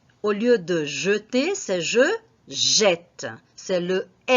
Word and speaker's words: jeter: Alors, nous avons ici le verbe jeter. Observez que la prononciation du premier E, c'est une prononciation fermée. On prononce jeter.